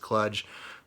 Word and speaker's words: Kluge: I believe it's pronounced Kluge. It could also be pronounced Kludge.